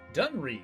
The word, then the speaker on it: Dunre: Dunre. Okay, that's how they pronounce that.